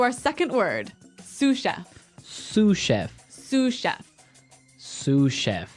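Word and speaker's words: sous-chef: Sue chef. Suef. S o u s. So the s is silent because it's like a French word.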